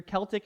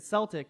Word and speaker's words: Celtic: And I looked that up, and I've always wondered, because I hear Celtic and Celtic, and apparently they are both right. Different times, different dictionaries, things like that, they give you different pronunciations.